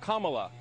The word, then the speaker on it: Kamala: because it outlives falsehood her name is pronounced comma like the punctuation mark luck kamala i wanted to be